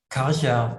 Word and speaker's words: Karcher: What is the correct? Karcher. It's a Okay.